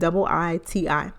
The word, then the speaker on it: Ayiti: It's not like a nickname, but her stage name is Haiti with 2 I's. So it's Ayiti.